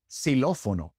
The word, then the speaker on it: xilófono: And in the few words in which the X comes at the beginning of the word, it's pronounced like an S, xilófono.